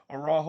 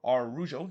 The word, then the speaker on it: Araujo: Though the first shot for Orlando did see Araujo, or Arujo, depending on how you pronounce it. He heads it wide from the corner, or actually it's Araujo, not Araujo that it is because he's not Brazilian.